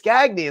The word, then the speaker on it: Gagne: You know, it's just like, "No, it's Gagy." Like, no, aren't you Gani like the wrestlers?